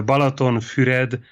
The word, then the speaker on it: Balatonfüred: It's called the Balatonfüred Concours d'Elegance.